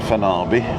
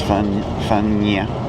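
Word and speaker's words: Fañabé: So this brings us then to actual village of Fanny Bay, and it's not Fanabi or Fanaby, it's Fanya with an N-y.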